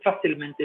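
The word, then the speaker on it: fácilmente: portuguesa continuar facilmente facilmente sabe que o a o a a sílaba tônica continua lá no f iso é facilmente iso é facilmente facilmente esse mente senal ele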